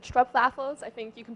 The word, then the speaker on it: stroopwafel: Yes, and additionally to that, we also have something called stroopwafels. I think you can pronounce it better than me.